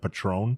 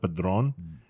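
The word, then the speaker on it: Padrón: that you miss said you mispronounced you said Patron yeah instead of padron and I was like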